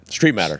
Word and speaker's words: Streitmatter: of Street matters around so that's how everybody pronounces it and it was just easier to go it Street matter just like it's too easy it's easy yeah